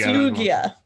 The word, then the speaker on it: Lugia: intro hi did I say did I say Lugia right is that the correct pronunciation okay that's good okay pulled that off